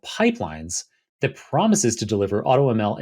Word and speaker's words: Pypelines: would be an I, the second character in pipelines is a Y, emphasizing a kind of, I guess, a Python root for this AutoML.